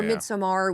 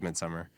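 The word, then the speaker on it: Midsommar: Or Midsomar, which is also horror, but like bright horror, I would say.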